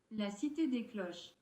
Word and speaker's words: La Cité des Cloches: La Cité des Cloches.